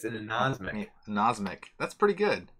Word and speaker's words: anosmic: Anosmiatic? Oh, so close. It's an anosmic. Anosmic. That's pretty good. It's like insomniac. It's hard not to say insomniac. Right. It's an anosmic.